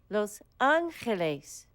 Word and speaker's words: Los Angeles: it means the Angels you pronounce it in Spanish like this Los Angeles some people call Los